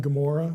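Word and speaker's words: Gomorrah: one or this one the best example is gamor Sodom and gomorah we spell it with a G it actually begins with Gan not gimmel in Hebrew so you get the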